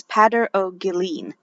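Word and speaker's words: Peadar Ó Guilín: he actually has a a guide on his website for how to pronounce his name and it's padder o'gilleen anyhow this is the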